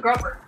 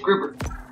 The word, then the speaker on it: grouper: why you pronounced that i thought it was grover nope grouper trying to find a